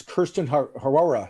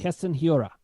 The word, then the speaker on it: Keston Hiura: It's Kirsten Harora. He's a Japanese Keston, excuse me. Keston Hiura.